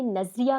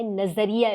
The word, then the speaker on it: نظریہ: اصل مفہوم کیا ہے۔ سب سے پہلے تو تلفظ ٹھیک کیجیے گا۔ عموماً لوگوں کے منہ سے یہ لفظ نکلتا ہے نظریہ پاکستان، یہ لفظ نظر سے نہیں نکلا ہوا، ٹھیک ہے، یہ نظر ہے، سوچ سے، انسانی ذہن